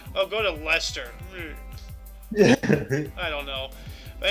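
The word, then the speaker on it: Leicester: how they pronounce it Lester sauce sauce But but so like like Chester or Lester yeah it's it's written like that but it's called Lester that's a weird name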